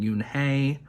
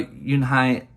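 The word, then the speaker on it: Unhei: in that reading that i mispronounced you and hai's name actually saying yoon hey or unhi i was originally going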